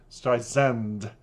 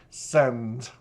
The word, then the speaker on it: Streisand: down Barbara Streisand, and Streisand, I've been told by the fans, not Sand, but it depends on your colloquialism, pronunciation, and if you're from America or England, and if you're an English upbringing like I have, how you pronounce one's name.